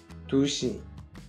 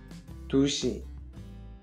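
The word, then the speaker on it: 두 시: 2 heures se dit dushi, dushi.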